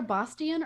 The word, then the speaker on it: Bostian: how you pronounce it it's like it's either bostian or bostian depending on where in the united states you're pronouncing it so nice um i'll